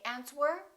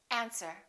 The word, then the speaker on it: answer: all right one more silent w answer don't say aunt were say answer these are the most commonly